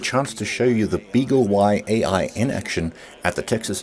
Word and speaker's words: BeagleY-AI: At the Texas Instruments booth again, and I'm here with Andrei Aldea, who's demonstrating the Beagle Y-AI. Is that how I pronounce it? Correct, yes. Beagle Y-AI, and it's doing a very interesting application here.